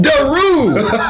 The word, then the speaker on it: Daru: Daru. What did I say? Daru. That same people power out Daru. There. Some people say really? Yeah. Man, I'm never out of here. It's Daru.